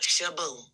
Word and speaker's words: Shaboo: It sounds just like it's spelled, Shabu. SHABOO.